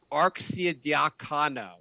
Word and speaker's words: Arcidiacono: The Knicks have signed Ryan Arcidiacono. I believe that's the correct way to pronounce his last name.